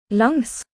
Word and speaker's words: langs: Longs. Langs. Okay, that might be a little bit of a tricky word. Longs kind of sounds like long, L-O-N-G. But, it can also kind of sound like a long.